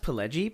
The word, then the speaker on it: Pileggi: Yeah, but yeah, my I don't want to call you an uncultured American, but it's actually pronounced Pileggi.